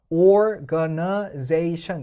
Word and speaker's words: organization: 갖게 되면 지금처럼 보면 organization 해서 얘가 5음절짜리가 되잖아요. organization 그러니까 4음절 이상 정도 되기 시작하면 보통 강세가 2개로 나뉘는데 보통 뒤에 강세가 주된 강세가 될 때가 많습니다.